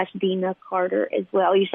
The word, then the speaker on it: Deana: It's official Deana Carter, and you'll see if you go on Facebook, look for the one that spells my name phonetically in parentheses. It says it's D-E-E-E-E-E-N-A. It's not Deana, it's Deana.